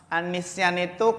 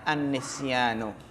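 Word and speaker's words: النسيان: Wa min dzalika an-nisyanu. Jadi bukan wa min dzalika an-nisyani, tapi wa min dzalika an-nisyanu.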